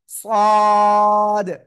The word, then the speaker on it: ص: জিহ্বার আগা, সামনে নিচে দুই দাঁতের পেট ও আগার সাথে লাগিয়ে একটু মোটা আওয়াজে উচ্চারণ করবেন। সদ, সদ, সদ।